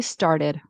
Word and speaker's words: started: to sound more American, I would pronounce this T as a D, as a flap T. I think I heard started. I would say started. Started. Started. Right. D like a D sound. A fast D.